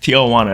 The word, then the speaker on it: Tijuana: Infamous city of Tiana affectionately that's okay okay Tiana that's how you pronounce it okay okay okay 15 million people